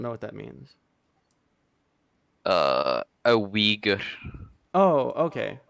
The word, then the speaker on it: Uyghur: A Uyghur. Oh, okay. Is that the correct pronunciation? Yes.